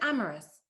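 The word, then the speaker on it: Amaris: to london paddington i asked her how she pronounced her name she said amorous but it wasn't spelled the way it sounded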